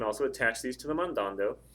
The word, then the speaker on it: mandando: attach these to the mandando think about how you say mandando mandando mandando the stresses over the second a again so I could